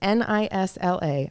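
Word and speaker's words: Nyla: It's actually called Nisla. Nisla, N-Y-L-A? That's how you pronounce it. It's Nisla.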